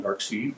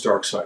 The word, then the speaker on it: Darkseid: Don't call him Darkseid because that's the wrong pronunciation. His name is Darkseid.